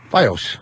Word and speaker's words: FiOS: be able to find FAS FAS f i o s so why would you pronounce that F fos what the Mars is dying he's laughing so hard fos now put it put it together fos there you go thank you just want